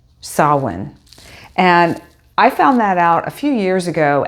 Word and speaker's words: Samhain: here for sawin and did you know that Sam Hayne that we all think of when we see it written on the page for Halloween and the Day of the Dead on November 1st is actually pronounced sawin and I found that out a few years